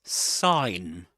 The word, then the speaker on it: sign: All right, that's sign sign. Not sign, but sign sign without pronouncing the this letter. You don't pronounce that letter, that sound. You don't say sign, but sign. S sign.